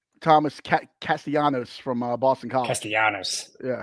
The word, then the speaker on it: Castellanos: Did I add an extra syllable? Thomas Castellanos from Boston College.